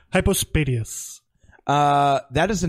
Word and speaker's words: hypospadias: __ ] it I still I post a deus hypospadias that is the name of this episode why